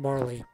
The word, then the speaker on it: Marle: what anyone says for game is pronounced Marlee and that's what we're